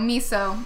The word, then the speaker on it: Miso: It's just Mizzo, actually. Mizzo. M-I-S-O. Yeah. Miso. Actually, you've been saying it wrong this whole time. It's Miso.